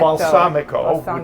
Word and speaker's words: balsamico: Balsamico, which Balsamico.